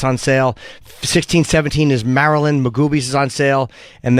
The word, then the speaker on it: Maryland: It's Maryland. Maryland.